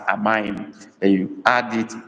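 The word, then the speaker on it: amaghị: Amaim. Amaim is spelled A-M-A-G-H-I with dot under the I. Amaim.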